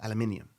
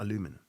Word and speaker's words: aluminium: get that out there you guys in America say it wrong I'm not going to get into the debate but I'm just saying you say it wrong it's aluminium not aluminum I don't see an o in anyways yeah Bank of